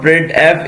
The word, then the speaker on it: printf: The standard library function printf, pronounced printf, is used to used for formatted output.